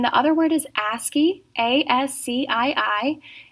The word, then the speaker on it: ASCII: And then the other word is ASCII, A-S-C-I-I. It is actually an abbreviation, but we pronounce it ASCII for short.